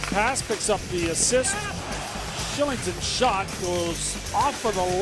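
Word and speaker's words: Kylington: Shillington picks up the goal. Look at the numbers there. 4-game point scoring streak, 8 assists already, and 3 goals. And yes, it is pronounced Shillington.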